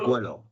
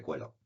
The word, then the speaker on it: Qwell: Os presento a Carlos Carmona, el director comercial de de cómo se dice se dice cuelo. Buenos buenos días, un saludo a todos. Se dice cuelo. Cuelo.